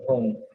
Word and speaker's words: Hum: She got the pronunciation wrong. Instead of Hum, she pronounced it as Ham.